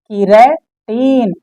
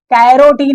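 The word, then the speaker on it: keratin: तो alpha किरेटीन, alpha किरेटीन, कैरोटीन नहीं, किरेटीन है, ध्यान रखना।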